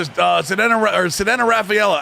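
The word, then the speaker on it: Ceddanne Rafaela: We're going to pitch to Sedena Rafaela. I know that's how you pronounce his name.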